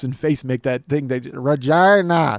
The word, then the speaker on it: Regina: Yeah, well, it's spelled Regina, but they call it Regina up there.